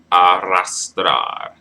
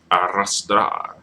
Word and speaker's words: arrastrar: Because the emphasis is supposed to be on the last syllable when it ends in a consonant, unless it's accented, right?